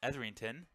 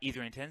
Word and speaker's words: Errington: is wrong I understand it's Errington not Etherington so I do apologize